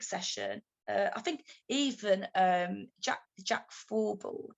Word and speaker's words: Thorburn: I think even Jack Thorburn, is that how you pronounce his name? Thorburn. That's it.